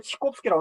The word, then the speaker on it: 차이콥스키: 이 차이콥스키라는 말은 러시아 말 발음으로는 치콥스키라고 하는데 차이콥스키는 성이고요.